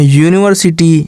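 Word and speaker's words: university: तो यहाँ यूनिवर्सिटी यानी या से शुरू हो रहा है यानी व्यंजन से शुरू हो रहा है तो इसके पहले हम ए का प्रयोग करेंगे।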